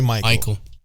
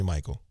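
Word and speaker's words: Maiko: or whatever calls me Michael. It's weird though because they spell it weird too. They spell it M-A-I-K-O. Like the Japanese way. M-I-K-O. M-A-I-K-O. Like how you would pronounce it in Puerto Rican.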